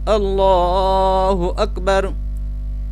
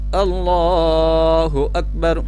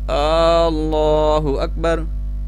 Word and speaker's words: اللہ اکبر: اللہ اکبر، یعنی اس میں لفظ اللہ کی لام پر صرف ایک کھڑا زبر ہے، اللہ اکبر اس طرح پڑھنا ہے۔ لیکن بعض لوگ اللہ اکبر، کچھ اللہ اکبر اور